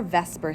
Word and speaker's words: VSEPR: so in comes our Vesper Theory v s e p r and yes it is pronounced Vesper the Vesper Seer Theory